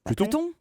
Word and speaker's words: Pluto: Pluton? Non, Mercure. Bien sûr. Oui, c'est par rapport à la planète Pluton, qui se prononce en anglais Pluto.